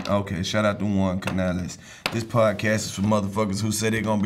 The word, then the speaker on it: Canales: my Juan caneles Canales Canales Canales hold up let me Canales do it again one canal say it like a Spanish person wait a minute he